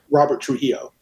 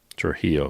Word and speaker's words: Trujillo: It was It's something that's very hard to pronounce. Robert Trillo. Trujillo.